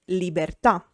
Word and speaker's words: libertà: A word is tronca or ossitona when the accent is on the last syllable. For example, libertà, freedom.